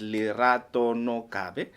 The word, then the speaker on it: Lerato Nogabe: will be hosting here uh her name is lerato no kabe a very famously known uh Miss lerato welcome